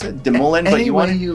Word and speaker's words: DeMoulin: DeMoulin, or how did you want me to pronounce it? DeMoulin, but you want you like. Any way I like. What was the French accent? DeMoulin.